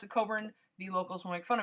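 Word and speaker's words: Cockburn Street: same way it's pronounced if you do not pronounce it coburn the locals will make fun of you so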